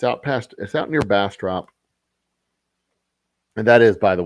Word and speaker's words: Bastrop: It is Bastrop, and it is called Bastrop. You pronounce the op.